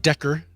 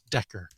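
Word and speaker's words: Dekker: cool so back in november uh artist named decker d-e-k-k-e-r spelled like desmond decker or dawkin if you like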